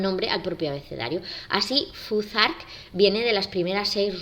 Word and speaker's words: Futhark: al propio abecedario así fuzzark viene de las primeras seis runas que según el origen o sea el orden que les han marcado son la flau la th que pronunciamos como Z la a la r